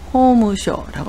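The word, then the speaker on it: 法務省: 법무성은 호무쇼라고 합니다.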